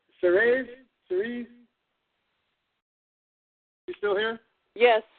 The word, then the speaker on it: Ceres: It's like I'm going to pronounce this correct before the night's over. It's Ceres. You still here? Yes, Ceres.